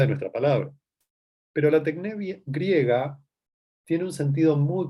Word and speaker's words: techne: es la noción de tecné en Grecia, en la Grecia antigua. Tal vez la escucharon nombrar alguna vez. Se escribe techne, a ver si la escribo acá para que ustedes la puedan leer. Tecné.